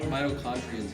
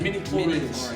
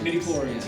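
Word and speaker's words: midichlorians: Mitochondrians or whatever. No, that's actually a real thing. I don't know. What is it? Midi-chlorians. Midi-chlorians, yeah. Midi-chlorians in the blood. You're gonna say it right.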